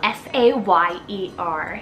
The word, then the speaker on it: Sayer: list here we have the cool name Sayre s-a-y-e-r Sayer now this one's kind of like an